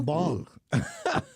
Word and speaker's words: balm: Well, what about a bomb? A bomb? See, that's soothing. Really? A bomb is soothing. A balm rhymes with calm.